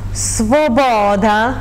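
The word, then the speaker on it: Свобода: Il brano si chiama Svoboda, lo pronuncio in ucraino perché è la parola ucraina, però viene scritta nel latino giusto per comodità.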